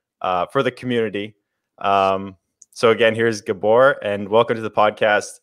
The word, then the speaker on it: Gabor: to say your name properly I think it's pronounced Gabor technically I tell English people in these Gabor blood NZT it's gab or gab or I